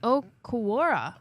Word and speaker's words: Okwara: you know, Julian, and it's pronounced Okwara. That was close enough. Akara, something like that.